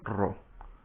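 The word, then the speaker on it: ρ: Rho, que por cierto se pronuncia Rho.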